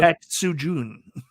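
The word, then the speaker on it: Tatsujin: Tatsujun.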